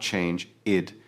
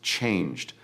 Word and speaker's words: changed: And the word changed ends with a d sound. It is not change it. It is changed.